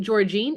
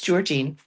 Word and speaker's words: Georgene: Okay, we also have Is it Georgene? Am I saying that right? Hi. Yes, it's Georgin. Great. I said it right.